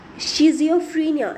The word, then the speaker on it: schizophrenia: Shrinkage of certain parts in द schizophrenia is the correct pronunciation.